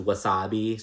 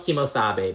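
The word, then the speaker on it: Kemo Sabe: go get some hats Kathy refers to it as Wasabi she doesn't have kemosabe she's like wasabi wasabi yeah um but it's spelled Kimo Sabe but it's kimosabe sorry if I said it like that sorry I said it wrong sorry fashion stops whatever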